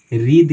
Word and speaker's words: wreathe: उसी तरह से मानिए रीध है, WREATHE, ठीक है, THE, तो हम इसका उच्चारण रीद करते हैं, रीद, ऐसा रीद, ठीक है।